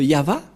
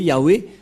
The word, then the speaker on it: Yahvah: de cette langue hébreu voilà donc le terme yava yava et on va voir comment on prononce cette parole yava ilsama yavashmo et nous